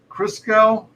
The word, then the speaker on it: Christgau: go right absolutely absolutely is your last name pronounced Crisco bingo you got it on the first try I'm impressed all right